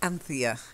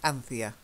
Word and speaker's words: Anthea: the first one is Anthea Anthea is a name it's not actually a very common name anymore but that's how we pronounce it in the UK Anthea try it and Anthea Anthea so this is